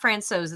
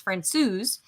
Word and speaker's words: Francouz: It's not Francouz, it's Francouz.